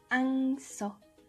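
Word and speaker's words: 황소: Le sixième mot sera pour dire un taureau, qui va se dire Angso, c'est écrit ainsi.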